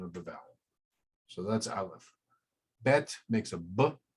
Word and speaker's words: aleph: symbolic now the pronunciation they say aleph is silent it indicates a mouth position and a vocal position different than i in begins in the throat a left begins in the mouth there's also it turns